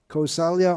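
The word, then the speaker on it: कौसल्या: son of dasharath and kosalya kosalya or koshal it's pronounced either way either and of course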